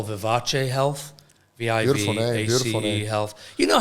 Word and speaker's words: Vivace: thought Vivace yeah it might sound like Versace yes but it's Vivace so Vivace Health how do I spell it how do i v a c e v i v a c love Australians pronouncing vivease it's not vivez Vivace health and uh